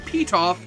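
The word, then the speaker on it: Pitof: with having the name Petoff, how fitting that his name rhymes with beat off.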